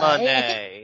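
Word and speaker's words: Mercedes Moné: Yeah, Monet. Monet. Yeah. So it's an interesting pronunciation.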